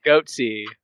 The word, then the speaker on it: Goatse: Is it pronounced goats, not goatsy? I always pronounced it goats. I've only heard it pronounced goatsy. Is the E not silent? Why would it be? I don't know. I figured the silent E just made it to where you stress the S more, which I do.